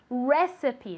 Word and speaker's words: recipe: this very good recipe recipe now even though it finishes with an e we say it is if it really finished with an i okay recipe okay one more time very